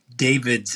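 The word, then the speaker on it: Davidtz: Beth, Embeth, and her last name is like David with a TZ. David's, and she pronounces it David's.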